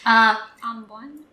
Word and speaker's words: ambon: Ambon. Good. That's it. Small. Maliit. Good. Weight. Antay. Good. And bitter. Mapait. Easy. Very good. What about the stress? Where the stress is. The first syllable. Ambon.